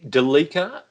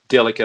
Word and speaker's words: Delica: my thing yeah delica so you're going the de lika as in seleka rather than delica celica uh i think that's how the enthusiasts uh pronounce it it's a bit like